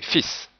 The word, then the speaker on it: fils: Le L n'est pas prononcé mais le S est prononcé fils.